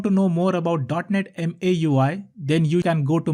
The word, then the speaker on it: MAUI: interface also known as dotnet m a ui how do i pronounce it maui maui let's say dotnet microsoft